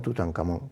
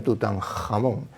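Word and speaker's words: Tutankamón: nombre de tutan catón tutancamon que en realidad se pronuncia tutanjamón es una Hache aspirada Sí sí sí es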